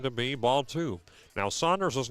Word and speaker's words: Sanders: Now Saunders's name is spelled Sanders, SA N D Rs. However, it is pronounced Saunders just for reference for those out there.